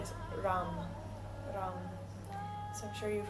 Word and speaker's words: ram: We're just going to chant the seed syllable for the solar plexus three times al together. And that sound is ram.